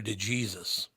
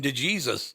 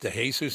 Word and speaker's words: De Jesus: a classmate of mine they pronounced it though in America Hector De Jesus of course they did they pronounced his last name to Jesus that's exactly right I'm like isn't your name pronounced to Jesus he goes yeah don't